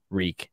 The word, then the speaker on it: Reek: be reborn as reek reek it rhymes with shriek dude that's some great